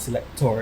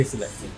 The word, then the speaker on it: Selecta: So it's not Selector, it's Selecta, because we actually say Selecta.